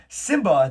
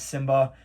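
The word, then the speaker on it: Nsimba: How cool is it that his first name is Simba? His first letter it's Simba with an N at the front. So it's N Simba, but the N is silent.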